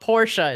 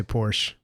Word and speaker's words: Porsche: A lot of people say Porsche. A lot of people say Porsche, but Porsche owners say Porsche. Apparently you're poor if you say Porsche.